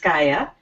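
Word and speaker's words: Skaja: um who's so skya s-k-a-j-a is pronounced skya and I actually live in Plymouth Minnesota my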